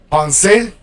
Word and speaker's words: penser: You pronounce the e. In French, it's not really like the Spanish e, but it's more like the like a schwa, accented schwa. Penser, demander.